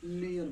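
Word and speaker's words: near: NEER इसको need ना बोलेंगे हम लोग, नियर बोलेंगे, ठीक है।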